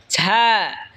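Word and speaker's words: زاي: এরপর হলো ঝা। ঝা জিহ্বার আগা সামনের নিচের দুই দাঁতের আগার দিকে লাগায় উচ্চারণ হবে ঝা।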